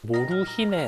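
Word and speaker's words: モルヒネ: 남아 있는데 당시 사람들은 몰핀을 이제 몰핀이라 발음하지 않고 일본어로 모루히네 아고 불렀어요 몰핀을 뜻하는 단어죠 몰핀을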